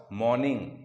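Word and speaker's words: morning: ते जाणूनबुजून करतो इथं मॉर्निंग मध्ये आर च उच्चारण आपण सायलेंट करतो तर इथं म्हणूया इट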